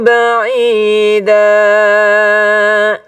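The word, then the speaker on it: بعيدا: Innahum yarawnahu ba'ida. Silahkan Linar. Innahum yarawnahu ba'ida. Ya, pakai ain. Coba a. Coba a. Ai. Ya, ba'ida. Ba'ida.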